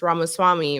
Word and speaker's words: Ramaswamy: they want a guy whose last name is Ramaswamy, right?